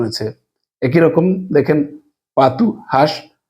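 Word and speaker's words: pato: কিন্তু এখানে উচ্চারণটা কিন্তু বলো ইউ এর মত উচ্চারণ হয়েছে একই রকম দেখেন পাতু হাঁস পে আ তে ও পাতু এখানে ও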